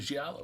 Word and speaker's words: Giallo: What's your favorite Giallo film? Did I pronounce that right?